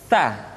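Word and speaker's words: ث: mutnimati tantanita berikutnya huruf Tsa ta dikeluarkan dengan menyentuhkan ujung lidah kita dengan dinding dua gigi seri bagian atas diucapkan dengan suara dan nafas yang terdengar mengalir tsa t tu b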